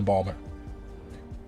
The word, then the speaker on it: Baltimore: Baltimore I don't know never been to Balmer as the locals say it's very neat the